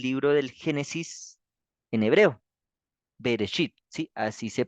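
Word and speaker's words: ברית: bit Entonces vamos aquí a ponerlo esto es berit s bit entonces la el resit que está acá sin el B resit es el comienzo Entonces esta palabra es el nombre del libro del Génesis en hebreo berit Sí así se pronuncia berechit y quiere decir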